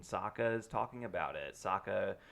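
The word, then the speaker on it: Sokka: is talking about it Saka it rhymes with AKA like there's a lot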